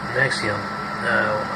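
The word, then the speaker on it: NXIVM: anything like that failure Nixon pronounced nexium like heartburn medication like scientists l ron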